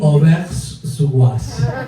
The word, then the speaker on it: Auvers-sur-Oise: Auvers-sur-Oise.